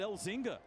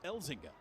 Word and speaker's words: Elzinga: it'll be luke elzinga I said his name wrong I think all year I said elzinga all season and then he came into uh the radio station Studio the other day and he says it's elzinga did you apologize to I